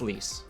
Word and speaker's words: Lise: Lise is pronounced Lise, by the way.